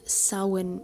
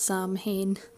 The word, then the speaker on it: Samhain: The festival is called Samhain. It is not pronounced Samhain. That drives Irish people up the wall when we're watching TV and we hear people say Samhain.